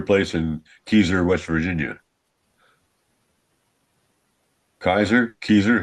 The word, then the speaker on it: Keyser: Keyser, how do you say it? Kaiser. Kaiser.